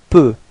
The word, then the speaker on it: peut: Il peut. Alright, so same way of pronunciation, you've got T at the end, but then you don't pronounce it.